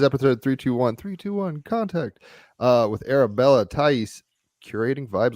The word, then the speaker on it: Thaïs: It's Thaïs, right? Yeah, correct. All right, cool. We'll geek out on that in a second. So yeah, it is episode 321 contact with Arabella Thaïs, Curating Vibes.